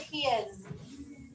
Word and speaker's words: his: What sound do we hear at the end? Z. Good. What's it spelled with? S.